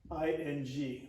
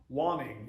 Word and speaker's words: waning: If you were to put an extra N in the middle, you'd pronounce it differently. You wouldn't say waning, you'd say wanning, yes, or wanning if you're from my part of the country.